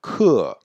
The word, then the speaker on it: 客: Remarquez qu'on prononce bien le E bien ouvert. Hein, 课.